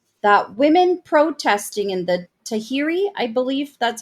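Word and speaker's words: Tahrir: quote un quote that women protesting in the Tahiri I believe that's how you say it square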